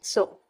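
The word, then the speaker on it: Tso: जिसको कहते हैं पगोंग सो। यहां जो सो वर्ड है जो कि जिसमें टी साइलेंट है उसका मींस होता है लेक।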